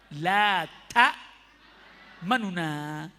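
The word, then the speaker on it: لا تأمنا: Ikhtilas, membaca harokat dengan samar dan cepat sehingga suaranya tinggal 2/3. Ya apa bacanya? La ta manuna.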